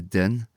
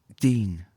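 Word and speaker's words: dyn: for ruddenine but here we're not saying it like a a den we're saying it like din long y so if um down south that sound like long i e and up north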